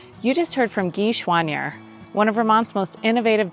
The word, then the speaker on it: Choiniere: gee and Matt schwannee do you see that chanye or Swan year is French yeah pronunciation and schwannier is what it's evolved to on this side the Border yeah I figured it